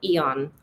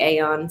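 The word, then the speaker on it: Aeon: Apparently it might be AON. So I'm sorry if I've been saying it wrong, but forgive me. I'm still going to say Eon.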